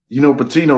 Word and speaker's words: Patino: Patino rhymes with strip clubs and casinos.